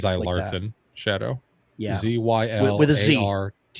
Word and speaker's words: Zylarthen: Well, OD&D or anything that's it is related Seven to Voyages it or whatever, of like Zylarthen Shadow. Yeah. ZYLARTHEN. Not spelled with an X like I think it should be, but that's fine.